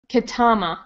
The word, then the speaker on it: Ketama: And if we take the time to tap into that community and really connect, then Ketama rhymes with mama.